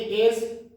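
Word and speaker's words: edge: तो एज क्या है, ईडीजी है, डी साइलेंट है, हमें क्यों लिखना, साउंड भी लिखना है ना।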